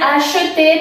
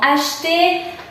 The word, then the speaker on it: acheter: Podría ser acheter, pero en la realidad pronunciamos más como acheter un terrain.